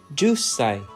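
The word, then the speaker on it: 十歳: years old equals just say is the correct pronunciation ju say got it Alexan your pronunciation of two has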